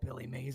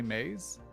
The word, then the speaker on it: Mays: Billy Mays? Yeah, that's maize spelled like corn.